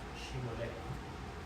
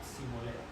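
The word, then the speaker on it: Shibolet: Si él respondía no, entonces le decían, "Di pues la palabra Shimolé, pero él pero él decía Simolé porque no podía pronunciarla correctamente.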